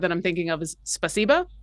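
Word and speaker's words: спасибо: I'm thinking of is spasiba which the the emphasis needs to go on the second syllable and I've been informed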